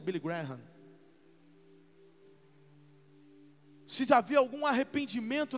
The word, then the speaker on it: Graham: Alguns falam de Billy Graham, mas a pronúncia é Billy Graham.